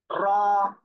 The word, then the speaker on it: ر: র, এই অক্ষরে এক আলিফ টান হবে, সবাই একসাথে বলেন।